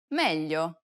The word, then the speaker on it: meglio: Listen to Desiree and pay attention to the way it's pronounced in the following words. maglia, meglio, aglio.